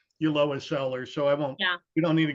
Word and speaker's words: Ulloa: So that's why I decided, and it's pronounced Ulloa. The double L is pronounced as a Y, so it's Ulloa.